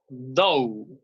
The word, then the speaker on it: though: Now we got though. Yes, the pronunciation is though, though, though. Okay, try to put your tongue between your teeth and say though.